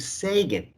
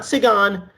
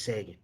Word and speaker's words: Segan: listening to sagan not segon not see and a lot of people want to say a lot of different things about the way my last name is pronounced but i'm going to tell you one way is pronounced that's the correct way and that is sagan in your ears right